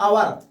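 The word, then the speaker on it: hour: अ से मतलब आवर है ना? तो यहां पर क्या लिखेंगे? एन एन क्योंकि यहां पर जो एच लिखा हुआ है वो एच साइलेंट है और साइलेंट शब्द हमेशा लिखे जाते हैं और बोले नहीं जाते नहीं जाते हैं इसलिए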